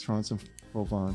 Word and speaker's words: Trans-en-Provence: Trans-en-Provence.